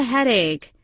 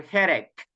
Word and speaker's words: headache: is the pronunciation or headache uh get it get it very good remember that the the the ending of of the of the illnesses guys sounds like a little K okay like a letter